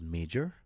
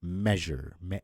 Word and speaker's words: measure: We normally pronounce it as major, but major is M-A-J-O-R. So this one right here is measure, je. So it's a je sound, all right?